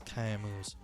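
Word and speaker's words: chiasmus: How do you say that? That's kiamus. Epigrams, epithets, maxims, I don't know how to say, aperçu, hyponyma, mantras, parables, and platitudes.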